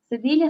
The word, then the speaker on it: cedilla: Cedilla se pronuncia como una S, ¿sí?